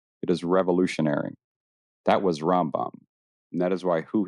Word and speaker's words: Rambam: In Hebrew, the initials of his title and name, Rabbi, M O E Ben Mang, combined to form Ramben, pronounced Rambam.